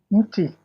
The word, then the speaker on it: mti: Mti. Muchi? Mti is the singular. The plural is miti.